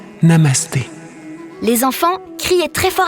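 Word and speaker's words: Namaste: Ça se prononce Namasté.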